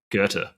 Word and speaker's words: Goethe: Is that how you pronounce the? Yeah, got the Goethe Prize. Goethe, yeah, the Goethe Prize, which is pretty amazing.